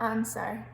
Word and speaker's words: answer: same with right then we've got answer so what's our silent letter there so is that w so if you take that out it wouldn't change how the word sounded and we've got sword